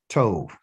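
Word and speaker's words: טוב: And this is a bet, but because it's the last letter there and it doesn't have a dot inside of it like this, we're going to call it a V sound. So T-O-V, Tove.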